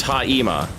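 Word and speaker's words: αἷμα: And the topic of that video was the word Haima, pronounced Haima, but spelled Haima, like we spell gavel of Haima or cannon of Haima.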